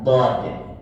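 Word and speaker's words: ض: sesuai dengan ejaan aslinya itu bukan do Pak tapi ejaan aslinya adalah Dod nah jadi beda kalau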